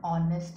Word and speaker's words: honest: so like that and is used before a word beginning with silent h so wherever the h